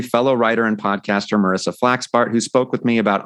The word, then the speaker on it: Wasseluk: Wasseluk. It's like Tom Selleck, but with a wa.